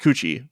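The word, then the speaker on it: 口: character um i cannot it's pronounced kuchi but i don't have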